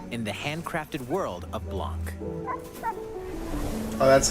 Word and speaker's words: Blanc: the snowy wilderness in the handcrafted world of Blanc. Oh, that's how you actually pronounce it.